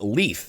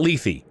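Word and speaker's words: Lethe: up the pronunciation because I was pronouncing it like the Greek River of Mythology that erases memories when in Fire Emblem Heroes she pronounces her own name and it's LEF not Lethy Ike here's a summary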